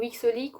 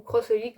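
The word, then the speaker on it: xxxHOLiC: Il y en a qui disent XXX ou Xolic, ou Crossholic. Donc bon, moi je prononce ça Holic, prononcez ça comme vous voulez.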